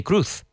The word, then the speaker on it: Cruz: Cruise and Penelope Cruz, the surname is pronounced the same in English. Tom Cruise, Penelope Cruz. In fact, people thought they were just married and they had the same name, Tom Cruise and Penelope Cruz. But, in Spanish, the pronunciation is very different.